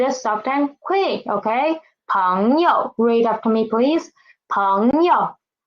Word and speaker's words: 朋友: Okay, 朋友. It is 朋 yo, and yo is neutral tone. Neutral tone. We need to read it soft and quick. Okay. 朋友.